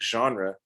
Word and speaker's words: genre: write a word like genre that has a sound that's not even in the english dictionary it's best pronounced as